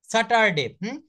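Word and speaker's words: Saturday: কিন্তু ওরা বলে ফার্ট স্যাটারডে এস এটি ইউ আর ডি এ ওয়াই স্যাটারডে ওরা কি বলে স্যাটারডেই স্যাটারডে এই আরটা কিন্তু সাইলেন্ট থাকবে তো দেখেন আমি হঠাৎ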